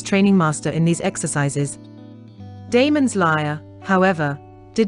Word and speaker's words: Damon: The master that taught him music, most authors are agreed, was Damon, whose name, they say, ought to be pronounced with the first syllable short.